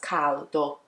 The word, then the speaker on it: caldo: In Italian, pronounced as caldo, okay, with the L, caldo.